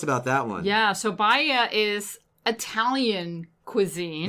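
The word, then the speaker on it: Baia: called tell us about that one yeah so baya is italian cuisine it's spelled b-a-i-a so you might want to go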